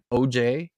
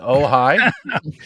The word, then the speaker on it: Ojai: Oh, is it Ojai? Is it OJAI? Yeah. Yeah, that's the one. Yeah, that's Ojai. Nice. Eric, actually. So. Yeah. Sweet. Yeah. So we pronounce it OJ in Canada.